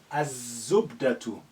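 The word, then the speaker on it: الزبدة: Za or zain is a sun letter. Az-zubdatu. Az-zubdatu.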